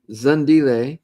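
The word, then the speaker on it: Zandile: On Zulu, lay is pronounced as lay. Same as K would be K. Me as may. Okay, so the E is A, basically.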